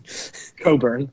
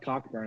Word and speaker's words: Cockburn: i mean kofi cockburn coburn coburn oh really yeah it's not cockburn it's coburn but it's spelled cockburn correct it's absolutely it's